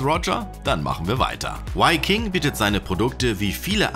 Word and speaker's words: W-King: so eine Marke und vielleicht sollten wir erstmal klären, warum es ausgesprochen Y King und nicht W King heißt, was ja im Englischen eigentlich richtig wäre.